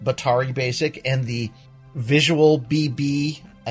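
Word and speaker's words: batari Basic: week I picked up Betar e basic which is how you how you pronounce it Bottari basic and the visual BB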